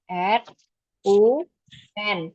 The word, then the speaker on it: run: Nah, kalau lari itu run, R U N, tapi bacanya R A N, run.